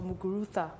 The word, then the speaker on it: Muguruza: I think I'll pick Muguruza or Muguruza, the way the Spaniards pronounce it.